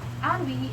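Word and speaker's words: ennui: And the last one is ani. Ani is spelled E N UI but pronounced as ani is another term for boredom or being bored.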